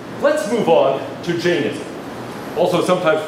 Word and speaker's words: Jainism: let's move on to Jainism. Also sometimes pronounced Jainism. It depends on how faithful to the Sanskrit you want to be.